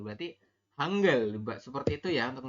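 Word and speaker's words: 한글: a n berarti kan Han terus e berarti hanggel seperti itu ya untuk membacanya adalah hang G seperti ini jadi dibaca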